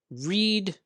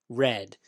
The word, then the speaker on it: read: The past participle of be, been, take, taken, see, seen, have, had, read, read. This one's special. The pronunciation changes, but the spelling does not.